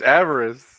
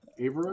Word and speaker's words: avarice: It's avarice. Avarice. Oh, what did I say? Avarice? Avarice. Avarice. Oh. This is Yeah, a you know, British name for an pronunciation, annoying man.